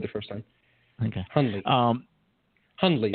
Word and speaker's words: Hundley: Hundley. Hundley. Anyway, the N is very soft. Yes. Hundley. Yes. The D actually is soft. Ha. Yeah. D is soft.